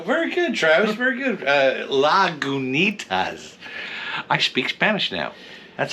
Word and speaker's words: Lagunitas: This is directly from Lagunitas, which we are pronouncing it correctly because I am looking up the pronunciation on the website. Oh, very good, Travis. Very good. Lagunitas.